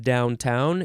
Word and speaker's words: downtown: Second form of downtown, you can emphasize either syllable.